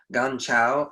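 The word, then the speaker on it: 甘草: So licorice, you know, ganchao, I think is the Chinese way to pronounce it.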